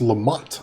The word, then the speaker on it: Lamoth: Lamoth is pronounced Lamont.